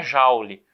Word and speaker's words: Joule: que é um cara mas é francês Então se pronuncia Jauli Tudo bem então primeiro